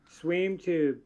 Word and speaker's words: SweemTube: How do you say your name? Is it Swim Tube just like it's Swam Tube just like it sounds? Or Swim Tube? Swim Tube. Everybody calls me Swim.